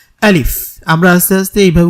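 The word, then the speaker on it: ألف: তাহলে আমরা বুঝতে পারলাম আলিফ হরফটা আসলে শক্ত একটা হরফ এবং এটাকে শক্ত করে উচ্চারণ করতে হবে আলিফ আমরা আস্তে আস্তে এভাবে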